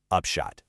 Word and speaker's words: upshot: Upshot. Let's do it one more time and really emphasize that first syllable. Upshot.